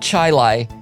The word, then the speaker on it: Chili: for a sec a city in indiana called chai lai it is spelled c-h-i-l-i chili it's the word chili and